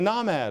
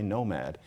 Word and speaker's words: nomad: "Try being a NAH-mad of sorts." NAH-mad is how you're supposed to say nomad.